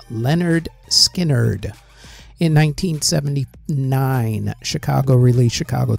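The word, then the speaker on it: Lynyrd Skynyrd: In 1973, Leonard Skinner released pronounced Leonard Skinnerd.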